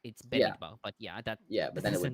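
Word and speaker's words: במדבר: Yeah, but if you follow the exact word, it's Bamidbar.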